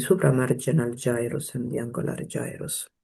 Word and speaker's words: gyrus: gyrus and the angular gyrus, or gyrus for some prefer the other pronunciation.